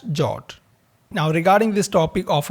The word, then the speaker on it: JWT: standard Json web token in short pronounced as jot now regarding this topic